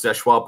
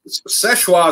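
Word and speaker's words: Seulchoix: You know, of course, Seshwa Point, we always say is one of our favorites. Seshwa is probably number one.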